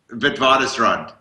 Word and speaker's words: Witwatersrand: In University of Witwatersrand. How do you pronounce that? Witwatersrand? Witwatersrand.